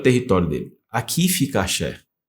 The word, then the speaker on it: Aser: Aqui fica Axé. Eu falo Axé porque é a pronúncia que você aprende no hebraico, né?